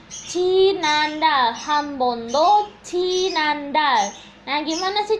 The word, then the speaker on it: 지난달: Bahasa Korea dari bulan lalu adalah 지난달. 지난달. 지난달. 한번도 지난달. Nah, gimana sih cara menulis 지난달 yang benar? Perhatikan ya, Rabun. Jiet, i, nien, a, nien, diget atau sang diget, a, til. Nah, 지난달.